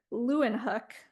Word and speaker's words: Leeuwenhoek: Master Leeuwenhoek, that's how you say his name, also uses Venice paper as a way to understand something as thin as can be imagined.